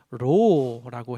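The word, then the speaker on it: ρ: 이제 헬라어에서는 R 발음입니다. 그래서 로라고 해요.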